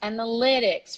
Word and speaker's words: analytics: got the word analytics differently from its verb analyze it's pronounced analytics repeat after me MC analytics analytics this is the stress right there and we also have